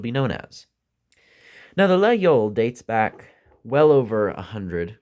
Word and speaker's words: Laguiole: And while no one can truly agree on the proper pronunciation, the most frequently heard to me is Laguiole.